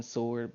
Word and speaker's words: sword: That some people actually pronounce the W in sword, but like most people don't, like sword.